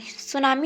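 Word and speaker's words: tsunami: सुनामी होती है भूकंप तरंग। ये तो सुनामी होता है, उसको टी इसमें साइलेंट रहता है, ओके।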